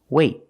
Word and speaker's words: wait: Example: wait, wait. I don't say wait. I don't release the T. It's a stop T. I stop the air. I stop the air with my tongue in the T position.